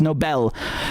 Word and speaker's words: Nobel: phonetically and also linguistically, people hear the word Nobel Peace Prize and they think it actually means like it's a noble person. It's not spelled the same way, and it comes from the guy's surname who created the prize. Okay, it's Nobel.